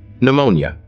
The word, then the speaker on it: pneumonia: here T is silent pneumonia here p is silent fasten here T is